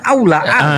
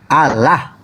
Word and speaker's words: Allah: Allah. L-nya 2 loh itu. Ya Allah. L-nya 2, berarti L-nya ditekan.